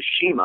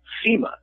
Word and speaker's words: CIMA: wrestler who's called the shima i thought it was pronounced seema c-i-m-a i only found out a little while ago that he pronounces it shima now and that's where